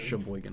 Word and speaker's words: Sheboygan: drive back to I don't know how to pronounce that. Sheboygan. Sheboygan.